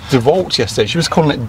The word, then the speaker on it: DeWalt: about how to pronounce DeVault yesterday. She was calling it DeVault, and I was like, what? It is DeVault. It is DeVault. If you come from a Germanic language, like I do. DeWalt.